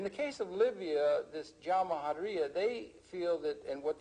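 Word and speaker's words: Jamahiriya: You'll hear Colonel Gaddafi talk about the Jamahariya, pronounced Jamahariya, which roughly translates, an Arabic term, which roughly translates out the state of the masses.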